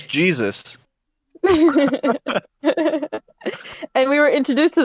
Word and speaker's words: Jesus: is jesus though and that's how it's pronounced too it's not like hey zeus it's it's jesus and we were introduced